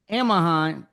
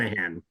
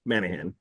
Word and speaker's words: Manahan: Amahan, Amahheim, right? That's how you pronounce his last name. Manahan. Manahan.